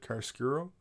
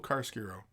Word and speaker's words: chiaroscuro: I always mispronounce this because I'm pretty sure this is an Italian word, chiaroscuro.